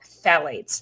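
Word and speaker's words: phthalates: to talk today are specifically called phalates that's spelled with a p pth a l A tes the problem with phalates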